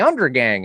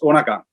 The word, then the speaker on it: Undergang: with spectrovoice you corrected me i was like under gang under gang and you said no it's undergang is that